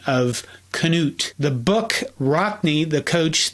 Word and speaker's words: Knute: George Gipp, pronounces it as a traditional Norwegian pronunciation of Knut.